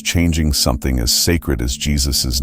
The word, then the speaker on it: Jesus: The written Yesus became Jesus, and the pronunciation shifted from Yus to the modern Jesus.